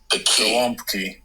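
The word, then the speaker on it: gołąbki: Because in Polish we have this these additional letters and the A with the tail it's pronounced on.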